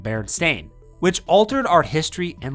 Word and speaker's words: Berenstain: While many people distinctly remember the name spelled Berenstein, pronounced Steen, the actual name of both bears in the authors is Berenstain, pronounced as it would be Stain.